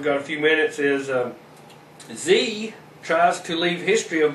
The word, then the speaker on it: Xe: the company, now called Z, pronounced like the letter Z, but it's spelled XE, is working to bury